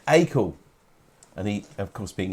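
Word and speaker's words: Acle: looking this in norfolk it's spelt a-c-l-e and it is pronounced by most people is it is that the norfolk way yeah where you're done all right i'll say a cool because that's the way i was brought up when i went to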